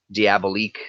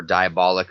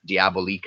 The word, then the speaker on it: Diabolique: for that stack of Diabolique stuff or diabolic er Diabolique I believe is how you pronounce it but I would love